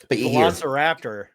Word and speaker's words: Velociraptor: But you hear Velociraptor.